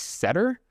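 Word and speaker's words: sedtR: So the answer is a R package pronounced setter.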